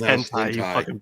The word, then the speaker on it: hentai: ] plbs I'm so what it's pronounced hentai plebs